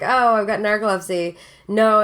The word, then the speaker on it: narcolepsy: Well, yeah, because you have narcolepsy. Yeah. That thing? Yeah. I'm glad I pronounced it right. Yeah. Because what's the... I almost said necrolepsy.